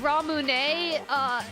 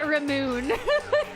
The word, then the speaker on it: Ramune: Or instead of Ramune, everyone just called it Ramoon. Just everyone called it Ramoon there for some reason.